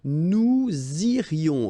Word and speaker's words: nous irions: Okay, then, nous irions. Okay, so let's make this little liaison between the two. Nous irions, final S not pronounced.